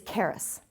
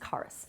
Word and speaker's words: charis: The Greek word for grace is charis. Might be pronounced charis. C-H-A-R-I-S.